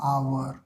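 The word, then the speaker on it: hour: की तरह ना हो जैसे एच ओ यू आर है तो इसको हावर नहीं पढ़ते है इसको क्या पढ़ते हैं आवर क्या पढ़ते है आवर तो उच्चारण किससे हो रहा है आवर अ ना य क्या है वल होता है तो एच लिखा है उससे फर्क नहीं है उच्चारण जब कर रहे हैं तो हावर ना उसको हम लोग आवर पढ़ते हैं पर हम लोग को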